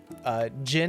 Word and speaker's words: Gen: So Jin is spelled Gen because of sort of like Gina Lee, sort of the J and G in there. And I wanted it to rhyme.